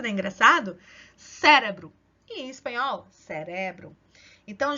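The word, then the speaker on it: cerebro: ao português Como assim eu vejo essa palavra cérebro a sílaba tônica tá aqui na primeira sílaba mas espanhol não vai estar na primeira fila vai estar na segunda então eu vou ler assim em português Ó cérebro mas espanhol você vale cérebro Olha a diferença da engraçado cérebro em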